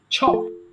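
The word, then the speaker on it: chop: এবং সবাই মনে রাখবেন CH যখন আসছে তখন সেটাকে ছ উচ্চারণ করবেন, চ না, ছ, ছ, ছ।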